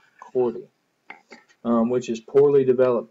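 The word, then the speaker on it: chordee: surface of the penis It's associated with cordi that's spelled c h o r d e e Cordy um which is poorly developed penis that curves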